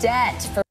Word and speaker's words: debt: Diplomas and debt. Кстати, заметьте, что не вот эта B не читается. Она просто говорит debt.